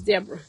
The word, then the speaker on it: Deborah: So it's pronounced my name is pronounced as Deborah.